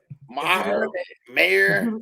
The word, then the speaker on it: Maher: Brett Maher? Maher? How do you pronounce his name? Mayer.